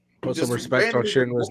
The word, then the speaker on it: Shinra: and he's just like put some respect on shinra's name please say his name his name is